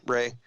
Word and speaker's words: Rea: That's my full name, Rea, Ray. If I say Ray, people are going to spell it R-A-Y. Yeah. So I make sure to spell it R-E-A.